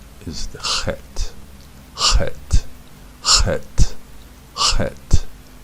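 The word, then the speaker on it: חית: Actually, the more air you put in it, the better off you are. Some people pronounce the chet as a het, right?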